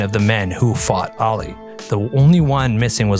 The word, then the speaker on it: Ali: you say you're saying Ali Muhammad Ali it's Ali you faced Ali and then known as Cashes